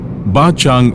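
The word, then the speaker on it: Bát Tràng: ഞങ്ങൾ അടുത്ത കാഴ്ചയിലേക്ക് പോവുകയാണ് ബാചാങ്ങ് എന്ന ഒരു സെറാമിക് വില്ലേജ് ഉണ്ട് ഇവിടെ അവിടേക്കാണ് ആദ്യം പോകുന്നത് പതിനഞ്ചാം നൂറ്റാണ്ട് മുതൽ സെറാമിക് ഉൽപ്പന്നങ്ങൾ നിർമ്മിക്കുന്ന കുടുംബങ്ങൾ വസിക്കുന്ന പ്രദേശമാണ് ബാച്ചാ ബാത്റാങ് എന്നാണ് എഴുതുന്നതെങ്കിലും വിയറ്റ്നാമീസ് ഉച്ചാരണം ബാചാ എന്നാണ് കാർ ആ പ്രദേശത്തേക്ക് എത്തി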